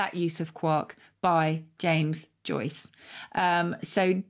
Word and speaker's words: quark: on uh audio and get the pronunciation so here you go quark there you go and in the u.s quirk there we go i